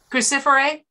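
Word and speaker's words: Cruciferae: brassicaceae was crucifix it means crucifix i can't pronounce that word specifically i'm sorry crucifer a yeah thank you very much it means the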